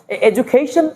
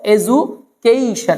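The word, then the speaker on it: education: শেখায় সেখানে আমরা বলব এজুকেশন অনেক সময় ডি এর পরে ইউ থাকলে ডু হয় না জু হয় এজুকেশন দুই জায়গাতে এরকম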